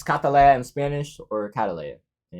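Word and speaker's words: Kataleia: Her name's Catalea, like the Colombian flower. But it's spelled K instead of C, A-T. And then instead of being Leah, like the flower is, it's Leia, like Princess Leia.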